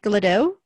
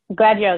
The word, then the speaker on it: Gladio: How do you say her last name? Glado? Gladio.